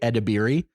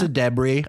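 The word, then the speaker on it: Ayo Edebiri: and IO debris also I've been saying IO Deb's name wrong for so long we talked about her so much in the bear and I kept saying and lots of people say edir yeah it's a debris I listened to an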